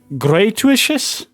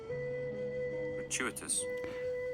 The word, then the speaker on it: gratuitous: How do you pronounce that? Gratuicious. Gratuiticious. I I'm I'm pulling out dictionary just to hear that. And you chant will hear it too. How the hell do you pronounce that? Gratuitous.